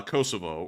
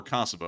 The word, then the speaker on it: Kosovo: involved inside of uh Kosovo or Kosovo or whatever you all like to call we're going to try and call it Kosovo from here for because apparently that is the right way to say it but there was actual